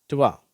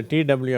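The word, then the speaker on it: two: இது டுவா சரியா இந்த டிடயூ அடங்கிய வார்த்தைகள் twinkle tweet ட்வீஸ் 12 twice 20 12 twist Dwayne டூ இது மட்டும் கொஞ்சம் உச்சரிப்பு மாதிரி இருக்கு இந்த wக்கு எந்த உச்சரிப்பும் இல்லை ஸ்ட்ரைட்டா டூ அப்படின்னு வாசிக்கிறோம் இந்த எம் பி ரெண்டு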